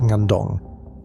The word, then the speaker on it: Ngandong: Between 1931 and 1933, a Dutch team worked a bone bed on a river terrace at Ngandong, pronounced N-gan-dong, in Central Java.